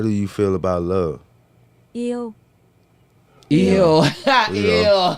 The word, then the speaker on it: yêu: Yêu. Eo.